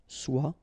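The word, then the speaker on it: sois: it will become swell remember final s is not pronounced SWA then sway on sway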